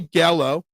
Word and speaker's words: Gallo: It's Joey Gallo.